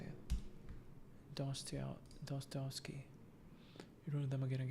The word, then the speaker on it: Dostoevsky: Dostoevsky.